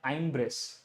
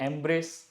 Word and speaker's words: embrace: पहला है आइम्ब्रेस, आइम्ब्रेस तो इसको नहीं बोलते हम लोग। फिर है आइम ब्रीज, वो भी नहीं बोलते। फिर एम्ब्रेस, जी हाँ ये बोलते हैं अपन।